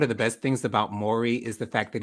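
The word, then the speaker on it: Maury: the best things about mori is the fact that he doesn't correct the people that call him murray i love that because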